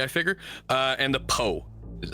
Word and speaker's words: Po: one pretty self-explanatory I figure uh and the poe is how you say it each night you